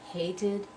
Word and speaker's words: hated: better in a paragraph hated toast it and started again we've got two syllables hated toasted and started and I need to